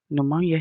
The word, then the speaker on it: pneumonia: Pneumonia has three syllables.